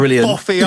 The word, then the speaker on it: Boff: Like you have boffy armpits. I mean, it was spelt B-O-U-G-H, but it's still pronounced Boff.